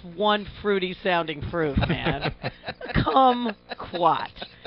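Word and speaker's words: kumquat: fruity sounding proof man come quat rhymes with come oh he said squat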